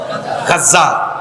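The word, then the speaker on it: غزة: গাজা মানে ওইটা না, আবার এটা আরবি উচ্চারণ হলো গাজা।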